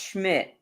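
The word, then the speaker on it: Szmyt: It's pronounced Schmidt. Schmidt. But it's like an S and then a Z right after it.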